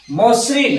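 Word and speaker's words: মসৃণ: এর পর ঋ মশ্রিন আমি লিখেছি মসরিন মশ্রিন মশ্রিন তাইলে আমরা বলছি কি মশ্রিন এইটা বলছি উচ্চারণ হচ্ছে এইটা মশ্রিন অথচ লিখছি আমরা মশ্রিন ম এর পর এই জায়গায় একটা অ আছে আমরা জানি এখানে একটা অ আছে ম বললেই একটা অ আছে অন্তর্বিহিত অ আছে তাহলে তারপর যে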